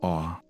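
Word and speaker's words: Orre: Although some fans pronounce it differently, the only official pronunciation of the region comes from a television commercial where it's said as "Or," so that's the one used.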